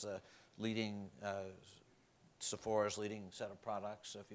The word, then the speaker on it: Sephora: so that's I think it's a leading uh Sephora's leading set of products if you and I have to admit before this I didn't know what Sephora stores were but my wife and daughter did